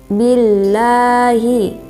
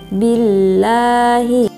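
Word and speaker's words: بِاللَّهِ: Terus billahi, di situ ada tarkik karena lafaz Allah didahului oleh huruf hijaiyah ba berharakat kasroh. Cara membacanya tipis, billahi.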